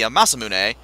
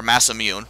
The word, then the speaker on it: Masamune: And this chest, well, chest I say, item would normally be the Masamune, or Masamune, depending on your pronunciation for Edge.